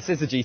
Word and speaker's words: syzygy: I was lacking in confidence when it comes to its pronunciation, so thank you. That's right, syzygy.